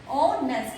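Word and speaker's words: honest: ऑनेस्ट, इसको हम इसको बोलते हुए, प्रोनाउंस करते हुए मैच को नहीं बोलते।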